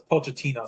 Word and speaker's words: Pochettino: So, it's Pochettino. So, I'm finally learning the correct way of pronouncing his name because I didn't want to